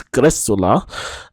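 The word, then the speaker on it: Greczula: uh Scarlet as well grula is an interesting newcomer and that is how you pronounce it apparently um if you're wondering where that surname that name comes from it's a Hungarian surname actually and CZ in Hungarian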